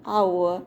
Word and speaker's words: hour: The H at the beginning of hour is silent, so it sounds like it starts with a vowel.